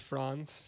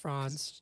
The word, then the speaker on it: Franz: the scarf or whatever I believe it's pronounced Franz Franz German France can you imagine